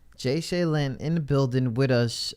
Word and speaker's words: Ja'Shaelyn: So it's pronounced Jay Seline, right? Yeah, Jay Seline. Jay Seline in the building with us.